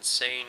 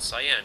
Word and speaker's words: Seine: some more Rush game play some tips on sane Crossing as I've been corrected that is I believe the correct pronunciation of this map I was pronouncing it cyan Crossing so um thanks for your comments again